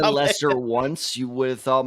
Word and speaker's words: Leicester: So he played for the Leicester Panthers, and he actually did pretty well.